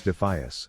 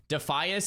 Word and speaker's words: Defias: man who doesn't know how to pronounce defas the defas front is constantly shifting okay I must back up the AI here defias is a really hard word to say I personally just learned